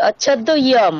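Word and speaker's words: अच्छेद्योऽयम्: अच्छेद्योऽयं मद्दायं না, আপনি আবার ভুল क्लेद्य করছেন, অকার হবে না ওখানে, মানে ওটার কোনো প্রোনাউন্সিয়েশন হবে না, তার মানে কি ওটা নেই, এক্সিস্ট করছে না। यम यम হবে अच्छेद्य यम তাহলে অয়ম নয়, ইয়ম। ইয়াকারের हाँ উচ্চারণ কেমন হয়, ইয়া, তাহলে ইয়ম, यम এতটুকুই উচ্চারণ हाँ হবে।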